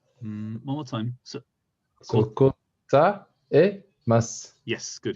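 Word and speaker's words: 答えます: Kotamas, kotamas. One more time. So, So kotaemas. yes, good. You have to pronounce the E. Yes. Kotaemas.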